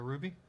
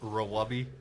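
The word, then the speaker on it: RWBY: the new season for ruby or royal Rawabi as it sometimes pronounced I don't think anyone pronounces it that way I might so correct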